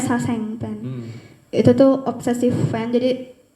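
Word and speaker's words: sasaeng fan: Bacanya Saseng fan.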